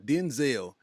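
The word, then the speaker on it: Dynzell: like this man because his name is Denzel right but he spells it d-y-n-z-e-l-l Denzel yeah you uh Denzel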